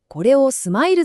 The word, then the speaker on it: SMILES: But when you write it in "smiles ," it becomes this simple string of letters and symbols.